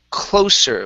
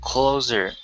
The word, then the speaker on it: closer: closer whoops right here give me an unvoiced s close closer closer okay instead of closer it's close closer closer almost almost close closer closer there you go that's the s okay very good um